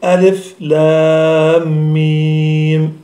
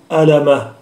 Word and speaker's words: الم: تحصل في مخارج الحروف، ولذلك إنما يقول القارئ ألف لام ميم مثلا ولا يقول ألمة، وإنما كتبوها في المصاحف